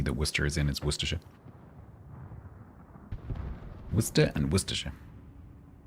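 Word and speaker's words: Worcestershire: And then the county that Worcester is in is Worership.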